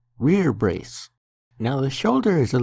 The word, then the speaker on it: rerebrace: The metal part that protects your bicep and upper arm is called a rear brace. That's not how it's spelled, but that's how it's pronounced. Rear brace.